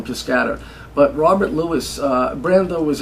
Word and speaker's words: Piscator: Elaine Stritch pronounces his name Piscator, and she studied with him, so I'm deferring to Miss Stritch. Yeah. So I'll call him Piscator.